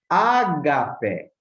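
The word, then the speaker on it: ἀγάπη: Ágape, ágape, tem assim o som mais forte aqui no alfa, que é acentuado.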